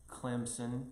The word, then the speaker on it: Clemson: there i went to clemson university if you really went to clemson it's pronounced with a p and everybody will know